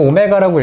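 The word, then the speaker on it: ω: 이거의 한 근을 이거 w 아니고 오메가라고 읽습니다. 뭐 w라 하든지 상관없습니다.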